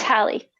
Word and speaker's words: Hallie: and um is it is it hayley or how's your name pronounced it's hallie hallie nice to meet you